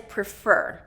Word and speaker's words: prefer: So the next one is pree-fer. So this is 2-syllable word and it's 2nd syllable stress. And the first syllable gets a reduced pronunciation. That vowel gets reduced.